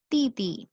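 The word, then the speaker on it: 弟弟: The third one इज ती ती। टी टी, ये डी आई होता है, पर इसको डी डी नहीं पढ़ते, इसको हम डी को टी की साउंड प्रोनाउंस करेंगे।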